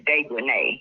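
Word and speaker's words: Dejanae: Her name is Dejanay. Yeah, that's Dejanay. It's Dejanay because it's got A-E on the end.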